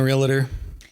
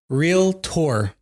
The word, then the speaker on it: realtor: have you been a realator or sorry realator did I say it properly still wrong how do you say real real Tor real yeah four years